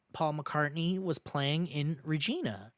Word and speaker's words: Regina: mccartney was playing in regina rhymes with you-know-what mike regina i guess